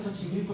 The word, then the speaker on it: Xochimilco: Es que Xochimilco suena más como ese.